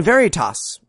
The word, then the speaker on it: Veritas: letting me know that in Latin, one doesn't pronounce the V in Veritas. It's actually pronounced Veritas. However, those people are fucking wrong because that's common Latin, you peasants. Church Latin very much does pronounce the frictive as cited by William Harris in the description.